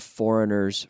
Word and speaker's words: foreigner: Foreigner Foreigner Foreigner okay the g is silent foreign Foreigner all right